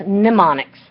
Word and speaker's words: mnemonics: to talk about is mnemonics and i think i'm mispronouncing on a previous video it is spelled with an M at the beginning but it's pronounced mnemonics it's a method or